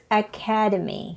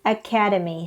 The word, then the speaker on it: academy: now let's practice more the noun form is academy second syllable and the adjective is